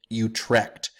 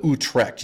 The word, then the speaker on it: Utrecht: the you of Utrecht Utrecht is spelled kind of like it sounds to me it sounds a little bit like a sound a cat would make as its vomiting but who trekked you TR e CH T that's the answer right there and the southern